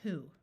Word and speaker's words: who: this word is white there are a few words with wh where the W is silent instead of the H like the word who sh says sh like